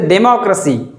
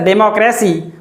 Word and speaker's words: democracy: r a c y it is wrongly pronounced as democracy by most of the speakers but it is not democracy it is simply democracy democracy is correct democracy is wrong there is stress on the sound law democracy democracy is correct